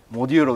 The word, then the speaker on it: モデューロ: こちらなんとはいモデューロでございますモデューロって読むんですかそうなんですよジポじゃないですじゃないですら